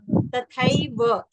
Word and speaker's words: तथैव: पुत्रास तथैव, ये जो थैव पूरा बोलना है, समझ रहे? तथैव।